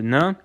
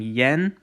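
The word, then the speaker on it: են: said kind of quickly instead of saying yen which you wouldn't necessarily be wrong but in just it's more common to just say so you don't really emphasize the yet sound you just say n almost as if there's e but there isn't okay so real quick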